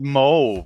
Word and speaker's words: Mauve: No, they named it Mo, and they get very pissy if you pronounce it wrong.